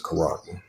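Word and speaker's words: χάραγμα: Yeah, so that's the mark, which is the karagma. That's the pronunciation of it.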